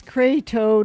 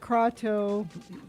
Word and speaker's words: Kratos: It's Kratos, not Kratos. Kratos, not Kratos? God of well, War. it's spelt Kratos.